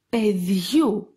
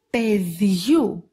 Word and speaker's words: παιδιού: The A sound of these diphthongs is pronounced like γου in the word γεμάτος. For example, παιδιού, παιδιού.